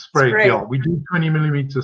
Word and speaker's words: Sprague: And do you do a 20 millimeter, or you're going to have to help me with the pronunciation of this? Is it Sprague? It's Sprague, yeah.